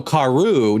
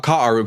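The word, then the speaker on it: כרו: I thought karu was pierced. No. So karu, not ka'aru, because there's no Hebrew word ka'aru, which would, if you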